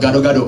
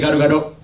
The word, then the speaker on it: gado-gado: end and we have gado-gado which means mixed mexican you guys say got a Gardo rato Gardo it's probably our best